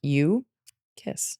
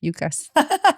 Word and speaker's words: Yuccas: And it is pronounced you Kiss. You kiss. Yep. I know I keep saying it in Spanish. Yucas.